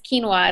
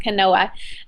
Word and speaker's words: quinoa: didn't pronounce it and it's quinoa it's not Canoa um but I learn